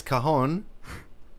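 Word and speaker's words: cajón: pronounced differently how does how is it pronounced is kahon that's how you say kahon kahon that's how do you that's how you say that little square drum looking thing and then if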